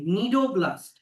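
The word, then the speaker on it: cnidoblast: এসছে এই ওয়ার্ডটা থেকে এখানে সিটা সাইলেন্ট থাকবে। নিডোব্লাস্ট।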